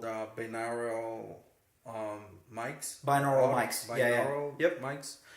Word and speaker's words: binaural: Binaural Yep.